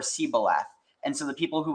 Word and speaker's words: shibboleth: The difference between the Hebrew word shin, which is now pronounced as shu, in the Hebrew, basically, so shibboleth or sibboleth.